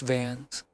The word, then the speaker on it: Vance: Cyrus Vance, pronounced Vans.